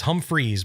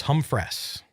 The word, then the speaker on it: Humphress: And everybody says Humphreys, but it's Humphress.